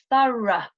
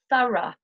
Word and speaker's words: thorough: Right, now the next pronunciation is the pronunciation of ough as a schwa, the sound in British English. We have the words thorough, borough. I'll repeat, thorough, borough.